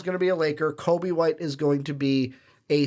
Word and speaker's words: Coby White: Half the time I say it correctly, I still think I'm putting that L in there. Coby. Coby White.